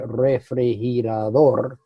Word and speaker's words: refrigerador: It's a refrigerador, refrigerator. See, ours, we put our accent at the beginning, they put their accent at the end.